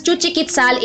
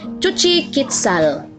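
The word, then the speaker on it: Xochiquetzal: Chuchiquitzal, it is pronounced as Chuchiquitzal in our pronunciation.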